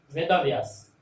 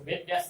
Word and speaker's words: वेदव्यास: वेदव्यास, देखते होंगे जो तत्सम जिस शब्दों का उच्चारण करते हैं वो वेद व्यास नहीं करते हैं, वेदव्यास। क्योंकि ये संयुक्त हो गया, इसलिए इसके पहले वाले वर्ण पर जोर दिया जाता है, वेदव्यास, फलस्वरूप।